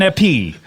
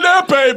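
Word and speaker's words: épée: What is an epee? It's a sword. Oh, thank you. It's an epee, by the way.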